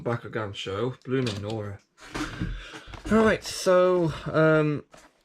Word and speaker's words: Bakugan: My family pronounces Bakugan as Bakugan, and they've done that since forever, and it kind of winds me up a bit, because it's not Bakugan, it's Bakugan.